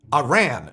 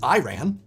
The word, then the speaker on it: Iran: Do you know Iran is pronounced wrong by mostly everyone, except Iranians. The I is supposed to be pronounced like Italy.